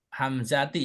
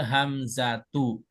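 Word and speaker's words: الهمزة: Nah, tadi Bu bacanya hamzati ya, Bu. Iya, soalnya dikirainnya ada alif lamnya kan kirainnya isim makanya ragus. Oke, sekarang cara baca yang betul adalah wakatil hamzatu.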